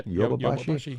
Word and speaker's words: Yodobashi: say, from the Yodobashi, is that how do you say it correctly? Yeah, Yodobashi, yep. Yodobashi, I mean, obviously a little bit more current than the map camera one. Yodo. I'm leading you astray. It's Yodobashi.